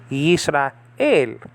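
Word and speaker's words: ישראל: So you say el, Yisrael.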